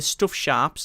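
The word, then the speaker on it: Stuff#: One of them was the stuff sharps, as in like a stuff and then the hash key, but pronounced sharp, so stuff sharp.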